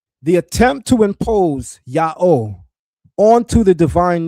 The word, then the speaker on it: Yahweh: Lashon Qodesh or Qadosh, strongly supports the pronunciation Yah Oh.